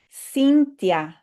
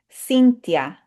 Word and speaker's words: Cynthia: would be that digraph, the TH in Spanish will just say t because that H is silent. Cynthia.